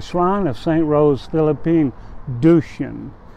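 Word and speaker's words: Duchesne: of St Rose Philippine duchan and that is spelled du c h e s NE and of course it's French and she was born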